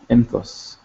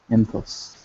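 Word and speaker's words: ⲛ̀ⲑⲟⲥ: And then for she, same thing, jinkim, ne, theta, o, and sima, enthos, enthos. So for all the singulars, let's just review the pronunciation one more time. Anok, enthok, entho, enthof, enthos.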